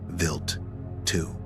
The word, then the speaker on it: Wild 2: For its primary target, scientists selected a comet known as Wild 2 (pronounced Vilt two).